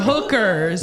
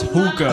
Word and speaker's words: hookah: I You thought you said said hookers. Hooker. Yeah, it's hookah.